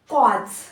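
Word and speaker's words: cause: सी का क वसे एयू का आ ए कस कस ठीक है फिर से एयू आया है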